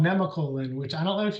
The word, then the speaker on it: Nemacolin: pronounced Nemacolin, and it is simply amazing.